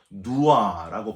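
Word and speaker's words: נוּעַ: 유리한다 하는 뜻은요, 히브리어로 누아라고 발음을 하는데 이 단어는 정착을 하지 못하고 어디론가 떠나야 할 운명을 뜻하는 그런 단어입니다.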